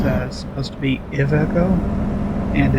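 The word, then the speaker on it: Iveco: So, this truck is the Aeco, which I used to pronounce, but apparently I was told last week that it's uh supposed to be ICO and it's Italian.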